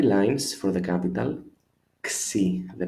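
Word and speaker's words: ξι: Xi, the pronunciation.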